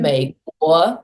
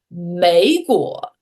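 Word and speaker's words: 美国: 嗯美国. A lot of speakers, myself included, will have this tendency to say 美国, 啊，美国.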